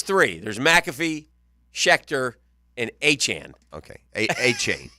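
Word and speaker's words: Achane: I don't believe it a Chan Han a Chan that's how you say it a Chan yeah I don't believe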